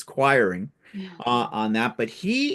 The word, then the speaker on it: Quiring: I had to ask him how to say it because I was calling him Queering, and it's not, it's Quiring Yeah.